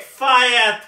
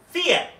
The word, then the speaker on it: fiat: cannot do only take fire currency actually i think it's pronounced fiat currency now is double priced